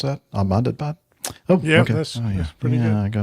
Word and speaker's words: Ahmedabad: Is that how you'd pronounce that? Ahmedabad?